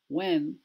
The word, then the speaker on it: when: Before, when we lived in the suburbs, before, দেখো উচ্চারণটা শোনো, before নয়, before, when নয়, when, what, how, when, what, where, when, what, where, এইচটা উচ্চারণ হয় না।